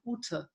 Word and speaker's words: Ute: My name, you say the German way people call me is Ute.